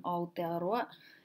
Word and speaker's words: Aotearoa: Starting with ao, as in Aotearoa, is the same sound as we've got in English. In the posh pronunciation, hao, nao, brown, cow, ao. So there's a tendency to decode the AO and say AO, but in Māori it's ao.